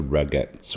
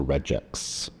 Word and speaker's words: regex: we're going to use a regex or Rex depending on how you like to pronounce it so in this case